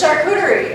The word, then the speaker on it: charcuterie: Charcutier. I put that word up on the board. Everybody knows that word now. Huh? It's like the new word. It's right. It's charcuterie, and I put it